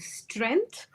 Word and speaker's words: strength: And strength or strength. G will be pronounced.